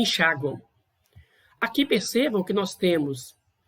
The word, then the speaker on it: enxaguam: No caso aqui do enxaguam, o M tem som de U, mas você registra com M. Só que, foneticamente, você tem uma semivogal, porque ela tem pronúncia de U.